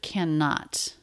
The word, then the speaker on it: cannot: We definitely want to stress the negative. Cannot. We have two N's. It's just a single N sound.